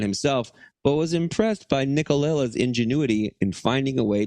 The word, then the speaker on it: Nicolella: In order to salvage the scene, the show's director, John Nicolella, Nicolella, I said it right, came up with a creative situation.